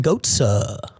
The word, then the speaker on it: Gotza: Monty Wilson versus Armen Gotza. Definitely not Goatsy.